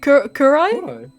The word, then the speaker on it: kurai: say it is it kurai Kur you pronounce it it's it's a Japanese word you don't pronounce it English you